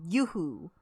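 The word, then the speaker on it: Yowu: Actually, if you guys are wondering what headset these are, they're called Yoo-Hoo. It's spelled Y-O-W-U.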